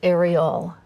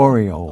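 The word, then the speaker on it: Aureole: Your signature dance is probably aerial. I hope I'm pronouncing that correctly. Oriole.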